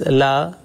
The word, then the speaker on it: Allah: again here it is it looks like Allah but here this Allah will be pronounced short without Aleph or dropping excessive Aleph as it has been